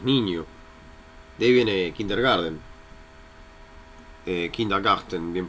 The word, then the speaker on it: Kindergarten: Kind es niño, de ahí viene Kindergarten, Kindergarten, bien pronunciado.